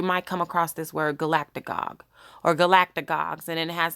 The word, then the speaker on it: galactagogue: That is how you pronounce it, Galactic Gog.